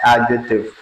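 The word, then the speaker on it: adjective: उसको आप बोलते हैं एडजेक्टिव। जिसको बहुत सारे लोग बोलते हैं एडजेक्टिव। हमेशा याद रखें कि जब भी डी ए और जे के बीच में आ जाएगा तो वो डी हमेशा साइलेंट होगा।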